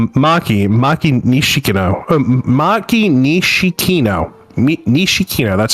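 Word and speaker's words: 西木野: Nishikino. That's how you pronounce her name.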